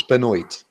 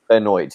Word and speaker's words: Benoit: It's pronounced Chris Benoit. Benoit, yeah.